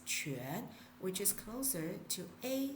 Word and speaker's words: quan: I don't really pronounce in chuan. I pronounce it as quan, which is closer to a sound.